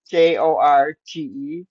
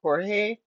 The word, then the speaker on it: Jorge: Now, George is spelt Jorge, kind of like Jorge, but she calls him George, so we'll call him that.